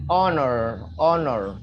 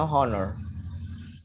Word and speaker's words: honor: It's honor, no honor. Honor, honor. Honor. Yeah, the H is silent.